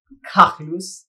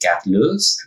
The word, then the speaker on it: KAGLOOS: The brand I'm using, which would be pronounced something like KAGLOOS or KAGLOOS, something like that. It's a phonetic variation of my real name, which is Carlos.